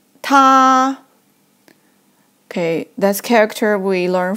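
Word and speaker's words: 他: also on the right so it pronounced like tah it means he or him tah okay this character we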